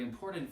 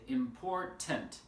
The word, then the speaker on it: important: the stress becomes very important for pronunciation right for example the word important here the stress is on the second syllable there are three syllables right in portend import